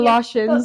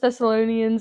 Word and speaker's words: Thessalonians: Wait, actually, I do remember we were talking about First Thessalonians. Thessalonians. What did I kept calling Tholossians.